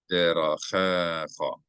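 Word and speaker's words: דרככה: Ve'enecha, هذياني, no, no, eth, derachecha, derachecha. Accent the cha. I'm sorry, the cha.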